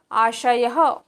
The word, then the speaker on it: आशयः: आशयः विषयः, देखिए आशयः बोलते समय सरल तालु आता है।